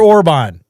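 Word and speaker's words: Orbán: Orban. Orban. It's Orban. Victor Orban. Orban, we're dyslexic. I was really close to that. That's the correct pronunciation.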